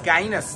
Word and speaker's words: Guinness: him up to garlo is it Guinness it's guyanes that's how we pronounce it here originally from St Petersburg